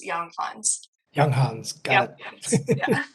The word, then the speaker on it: Younghans: Yeah, if you read that J as a Y, it's young, and then read the last part like Hans Millennium Falcon, so Hans, young Hans.